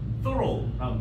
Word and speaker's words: thorough: 발음해봐. thorough라는 단어.